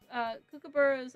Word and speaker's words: kookaburra: Also, kookaburras are pronounced Kookaburra.